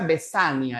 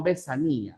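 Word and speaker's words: vesania: Ya se pronuncia besania, ya no besanía.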